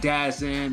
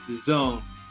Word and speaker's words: DAZN: Starting off with Alexander Povetkin versus Anthony Joshua fight from last Saturday on DAZN. You know, I got to make sure I pronounce that correctly. Not DAZN or DAZN or whatever. It's DAZN.